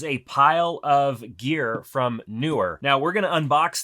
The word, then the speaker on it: Neewer: all products from newer now it's newer I looked it up it's not newer even though that's how it's spelled but newer is a